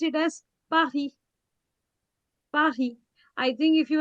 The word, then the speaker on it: Paris: We write it as Paris, but we pronounce it as Paris.